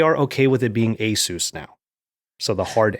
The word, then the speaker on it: ASUS: I always thought it was ASUS because it's Pegasus. I was told that by people who work there, but apparently they are okay with it being ASUS now.